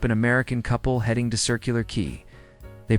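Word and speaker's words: Circular Quay: My brother drives Uber in Sydney and picked up an American couple heading to Circular Key. They pronounced it qua.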